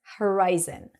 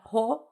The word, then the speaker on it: horizon: gaze at the horizon horizon not hor Horizon but Horizon gaze at the Horizon